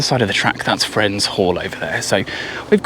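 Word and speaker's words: Frenze: So we are 22 km into the walk today and we've just arrived here at Friends Church and that's spelled F R E N Z E.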